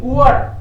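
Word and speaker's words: Uhr: इश हिंगे, इस आगे व्यूअर इश हांगे व्यूअर दी ऊहर, हेंगे दी ऊहर, दी ऊअर। एच को साइलेंट रखना है, बीच में आए तो ऊहर इश आन, हेंगे दी ऊअर।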